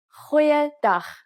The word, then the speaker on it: Goeiedag: Try pronouncing it from the back of your throat. Goeiedag, goeiedag, ek is Anne-Marie Luck.